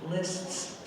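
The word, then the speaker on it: Liszt's: points that will help when you see the s z like in the title that's like the s c in the composer's list's name it's just a simple s so this is saintly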